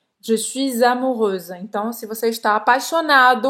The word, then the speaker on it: amoureuse: E aqui você vai falar só o S no final, com esse sonzinho de Z. Je suis amoureuse.